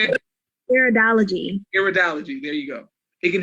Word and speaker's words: Iridology: I'm not going to butcher that, but Iradology, help me out, Celine. But yes, that analysis, it can help you with personal wellness. Ma'am, how you say it? Iridology. Iridology, there you go.